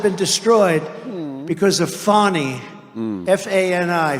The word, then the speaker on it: Fani: F-A-N-I, Fani. You have to pronounce it Fani. It's called Fanny. You have to pronounce Fani.